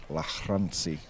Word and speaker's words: Lagrange: And this one, Lagrange, he said it was Lachransi. So he just had an Afrikaans name, a bit like Manus Labascatni, Yeah.